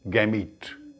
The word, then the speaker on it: gametes: और पोलन के अंदर जो सेल्स होते हैं वो होते हैं मेल गैमीट। एक वर्ड आपकी बुक में लिखा है, उसको प्रोनाउंस करते हैं गैमीट, GAMETES, मेल गैमीट।